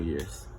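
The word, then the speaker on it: 年: Neon, which is the monster that I previously mentioned, is pronounced as year.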